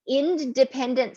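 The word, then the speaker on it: Endependence: So I will say the Independent Center of Northern Virginia, and I'm enunciating like that because it's spelled like the end of dependence.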